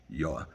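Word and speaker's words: יה: Ka, the word Yud Hey, we pronounce it Ka, it's actually Yah.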